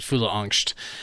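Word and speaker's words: fyllesangst: yeah fol F yeah the second part of the word is like angst but that's the way they pronounce it it's f y l l e angst but they pronounce it fola an uh but anyway uh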